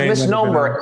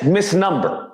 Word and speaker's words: misnomer: the same person who pronounced misnomer as Miss number okay nobody's listening to